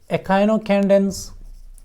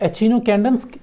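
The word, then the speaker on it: Echinocandins: है तीसरी कैटेगरी है एकाइनोकैंडेंस। कोई इसको एचिनोकैंडेंस प्रोनाउंस करते हैं, कोई इसको एकाइनोकैंडेंस कहते हैं। I would love to call it एचिनोकैंडेंस।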